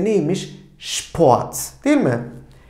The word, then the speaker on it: Sport: Bir sonrakine baktığımızda S, P bir arada kullandığımızda Şp. Örneğimiz de neymiş? Sport.